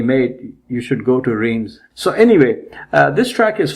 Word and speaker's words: Reims: Reims.